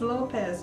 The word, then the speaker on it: Lopes: was from there and her name is Lopez only it's pronounced Lopes it's l o p s because the difference in